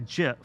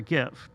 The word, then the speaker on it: GIF: You just throw it into that message, and it creates a GIF or a GIF, depending on how you want to pronounce it.